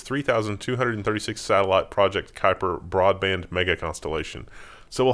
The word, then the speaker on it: Kuiper: How do you pronounce this word? Kuiper. Kuiper? Is it? That's right. It's Kuiper.